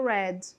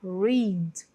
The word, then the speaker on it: read: I read Ok e o verbo no presente a gente fala read read read Então pode até parecer que é tudo igual aí não é mas a pronúncia é diferente tá então no passado você lembra da cor vermelha que é mesma pronúncia red red e no presente a